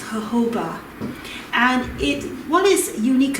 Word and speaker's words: jojoba: jojoba oil it says jojoba but it's actually pronounced jojoba and it what is unique about this is